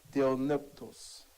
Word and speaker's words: theopneustos: La frase inspirada por Dios es una sola palabra en el griego que quiere decir theopneustos. Theopneustos. Se escribe T-E-O-P-N-E-U-S-T-O-S.